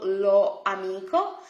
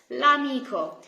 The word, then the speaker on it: l'amico: to hear, for example, lo amico. So what we do in Italian is we just delete, we cross off the last letter from the article o, lo, and lo becomes L apostrophe amico, l'amico.